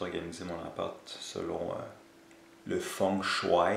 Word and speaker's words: feng shui: mon appart selon le fonds choix et c'est comme ça qu'il faut prononcer m maintenant mieux mais